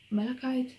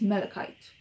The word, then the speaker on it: malachite: performance everything is great armani vert maracaite malachite i never knew how to pronounce this i think it's malachite by armani privet then